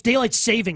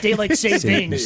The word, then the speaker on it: daylight saving: It's daylight saving. It's not daylight savings.